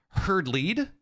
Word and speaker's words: Hard Lead: But what is going to happen, Zombie Grub, is that Scarlett is ready now, and hard lead game number 4. Fear Dragon, of course, in his tweet says it's herd lead, I believe, as he has graced us with the pronunciation for all the maps.